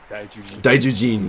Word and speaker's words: Daijujin: And they kind of have like, it's tricky because the J and Z sound are similar in Japanese, so it's spelled with a Z, but it's actually pronounced with a J.